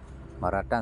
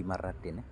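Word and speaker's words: مرةً: kamus berjalan ada lagi bacanya tadi jumati maratan iya maratan selalu maratan kecuali ada huruf Jar Fi marratin kalau enggak ada Fi maratan maratan pendek banget hadis ini hadis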